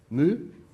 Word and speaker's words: mu: You also see here a angle, mu. The speed, mu, yeah. What's the proper English pronunciation? Mu. Okay, mu. From now on.